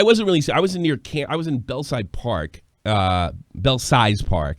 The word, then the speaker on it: Belsize: I was in I was in Belsize Park. Belsize Park. That's the way it's spelled, but everybody says Belsize.